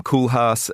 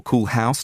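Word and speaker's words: Koolhaas: in 2003, Alvaro Caesar, Rem Koulhas or Cool House, depending on how you want to pronounce it, Frank Garry.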